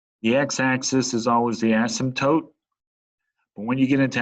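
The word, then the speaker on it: asymptote: words it's called an ASM toote okay it's like the p is silent so it's called ASM toote and what that means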